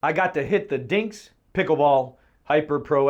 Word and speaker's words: DiNGK: First, I got to talk about the name DiNGK. If you look up DiNGK in the dictionary, it is phonetically spelled DINGKS.